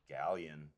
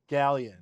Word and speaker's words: Galyon: And how do you pronounce it? Galyon. Galyon. Like a white person. Like a really white person. Galyon. I just like laying into that Y, getting it in there.